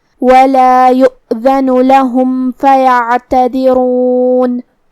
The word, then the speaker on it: يؤذن: هذا يوم لا ينطقون ولا يؤذن لهم فيعتذرون. کلمت یؤذن میں یہاں حمزہ ہے واو پہ، تو ہم حمزہ کو ظاہر کریں گے.